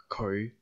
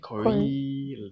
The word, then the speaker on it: 佢: So it's like 佢. Like that. 佢. We don't say 佢, not like that. 佢. 佢. So fifth tone 佢, low rising 佢.